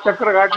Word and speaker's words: चक्रा घाट: हाँ, सागर के बारे में एक तो चक्रा घाट है, जो यहाँ स्पेलिंग के साथ जो कुछ चक्र घाट नहीं, वो चक्रा घाट कहलाता है, आज भी वही है, वैसा ही है सागर में आज भी।